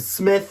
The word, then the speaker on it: Smythe: It is not spelled like you're picturing Smith if you've never seen it. It's Smythe. Yes. Smythe. Smith, whatever. This is the blue plaid leather elbow patch blazer.